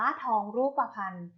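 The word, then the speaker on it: ทองรูปพรรณ: ทอง รูปพรรณ ทอง รูปพรรณ อ่าน ว่า ทอง รูปพรรณ ทอง รูปพรรณ ประกอบ ไป ด้วย ทรหาร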